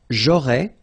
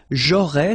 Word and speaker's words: aurais: J'aurais, so final S, not pronounced.